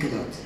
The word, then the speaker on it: Gadot: And remember, it's pronounced Huawei and Gadot.